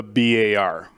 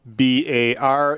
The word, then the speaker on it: BAR: uh the the famous browning semi-automatic rifle the bar okay it is pronounced b-a-r it stands for browning automatic rifle it is